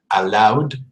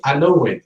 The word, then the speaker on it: allowed: Allowed, played, and followed. Never say allowed or played or followed. No, it is not an extra syllable. It is not longer. It is shorter.